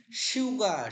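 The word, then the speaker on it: 휴가: হিউদ বর্ণে যদি ইউ থাকে, স্বরবর্ণে ইউ, তাহলে হিউদের উচ্চারণটা স্বর মতো হবে।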